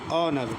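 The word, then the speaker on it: honour: और और घंटा तो यहां पर भी एट साइलेंट है और और उसके बाद देखें ऑनर ऑनर तो यहां ओ की आवाज़ आ रही है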